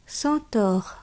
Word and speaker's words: chanteur: আ এন, অ এন, অ এম থাকলে অ উচ্চারণ হয়। আ এন দিয়ে উদাহরণ আমরা দেখব chanteur, অর্থাৎ গায়ক, গায়ক।